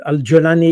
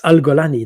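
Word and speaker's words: al-Julani: Al gulani that uh Alani is the the the way to pronounce it but if you pronounce it the Egyptian way it's alalani that means he comes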